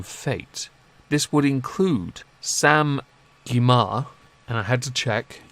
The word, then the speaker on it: Gyimah: This would include Sam Gyimah, and I had to check, yes, that is the correct pronunciation.